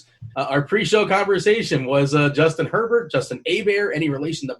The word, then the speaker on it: Herbert: want to call him we know Herbert's the right way to say it but we're gonna go with a bear just for the hell of it but I I think